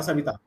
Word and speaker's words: Savita: उसमें लिखा है SAVITHA, लेकिन अगर हम दोनों को पढ़ेंगे प्रोनाउंसिएशन करेंगे दोनों का तो एक ही आएगा सविता, ठीक है।